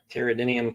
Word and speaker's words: Pteridium: things there we go pteridium Carolina just has a silent P like pteran cool and let me